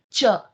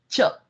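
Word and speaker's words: च: The word for and in Sanskrit is cha. Can you say that for me? Cha. Cha. Okay. Cha.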